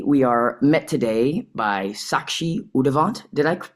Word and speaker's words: Sakshi Udavant: Today we are met today by Sakshi Udavant. Did I pronounce that correctly? Yeah. Yeah. It's Sakshi Udavant.